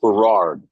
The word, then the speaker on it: Burrard: And we have a street at home here called Burrard. Hmm. It's called Burrard, but the AI pronounces it Burrard because it Mm.